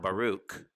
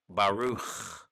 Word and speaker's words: baruch: it just comes to a closing sound of baruch bahru not baruch with a k baruch with the kh or ch sound in this case we've